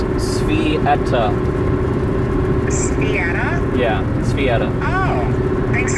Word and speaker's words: Sveta: So before I tell you that, so how you pronounce her name is Svieta.